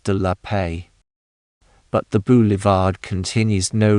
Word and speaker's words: de la Paix: The name of this street is properly pronounced de la Paix.